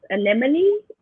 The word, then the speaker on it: anemone: What is anemone? Yes, and I don't have to pronounce it because you did correctly.